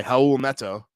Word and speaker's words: Raul Neto: Rubio, which leads us to our next guy, Raul Neto, who Nice job on the pronunciation really quick.